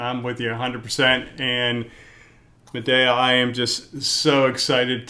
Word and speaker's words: Medea: I always grew up with it being pronounced Medea. There's day in the middle, the sun's in the middle.